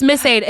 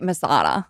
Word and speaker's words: Miss Ada: It's Miss Ada. It's Miss Ada. I hear you, Masada. Miss No, Ada.